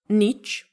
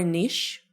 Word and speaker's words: niche: Is it niche or niche? Actually, both. You can pronounce it like niche and niche. I love niche more.